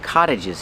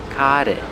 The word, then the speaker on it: cottage: There are a lot of cottages here. Pronunciation, the T makes a fast D. Cottage, cottage, cottage.